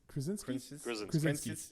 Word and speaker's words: Krasinski: How do you pronounce John Krasinski. Krasinski.